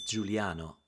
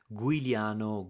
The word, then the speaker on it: Giuliano: my name for instance my name is Giuliano but many times I heard guano guliano now there is a new